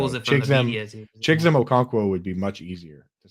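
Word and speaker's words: Chigoziem Okonkwo: And Dustin in here coming in with the pronunciation help here said Chigzem Okonkwo.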